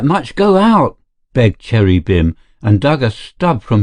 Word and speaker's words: Bim: Manning cross eyebrows Rose your beam is that how you pronounce it Bim said the other b-i-m Christian name Cherry Cherry